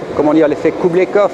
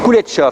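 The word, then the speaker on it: Kuleshov: C'est l'effet Kublekov, je pense, peut-être que je le prononce mal, où on met deux images qui apparemment n'ont rien à voir. Kuletchov, c'est ça, l'effet Kuletchov, où on met deux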